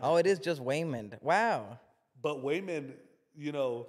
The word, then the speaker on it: Waymond: it was Waymond wasn't it I think it's Raymond but I think he's pronounced it wait a minute it's just women and then the daughter is joy um yeah but like oh it is just women wow but Wayman you know I thought it